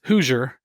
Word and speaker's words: Hoosier: and your name is Hoosier, right? Is that how you say it? It's close. It's Hoosier.